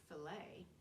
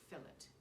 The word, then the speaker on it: fillet: And because of the complicated relationship between Britain and France, the T, which is silent in America, filet, is pronounced firmly in Britain, fillet.